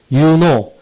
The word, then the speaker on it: U-KNOU: U-KNOU, 유노 또는 유노 캠퍼스라고 읽습니다.